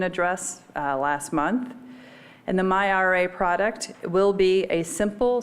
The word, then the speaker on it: myRA: department to create the myra and i did say that correctly everybody take note how this is pronounced this does sound stand